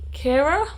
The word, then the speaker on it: Kira: the first one is not my problem by kira smith i think i looked up how to pronounce her name so long ago but i'm pretty sure it's cara smith and i read the falling in love